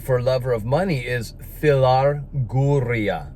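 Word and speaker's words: philarguria: this greek word for lover of money is filar guria phil arguria if you want me to spell it for you it's p-h-i-l just like phil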